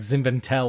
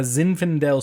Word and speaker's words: Zinfandel: Zinfandel and sometimes yeah sometimes I'll say it weird like zinventel or something but it's Zinfandel okay did you ask